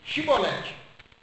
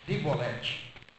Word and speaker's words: chibolete: ele não então lhe diziam dize pois chibolete porém ele dizia sibolete porque o não podia pronunciar assim bem então pegavam